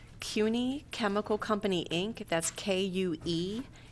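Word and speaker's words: Kuehne: have just one bidder just one bidder it's cuny k-u-e-h-n-e k-u-e-h-n-e chemical company inc 86 north hackensack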